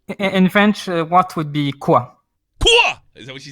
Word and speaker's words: quoi: In French, what would be quoi?